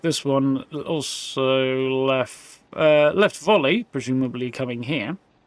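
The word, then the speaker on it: Volii: Yeah, it looks like this one also left volley, presumably coming here. Voli, depending on how you want to pronounce it. Presumably the second one is apparently correct.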